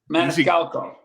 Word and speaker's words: Maniscalco: Maniscalco.